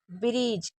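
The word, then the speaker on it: bridge: Brave ब्रिज हमेशा याद रखिएगा डी के साथ अगर जी होगा तो हमेशा डी को नहीं पढ़ेंगे। इसलिए इसको ब्रीज पढ़ रहे क्योंकि डी साइलेंट है।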